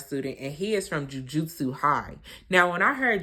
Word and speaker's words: Jujutsu: of fighting I guess called Jujutsu not J Jujitsu but Jujutsu so anyway he meets